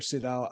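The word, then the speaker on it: Sydow: want to shout out Max von sit off for sit out I've heard it pronounced both ways yeah uh always a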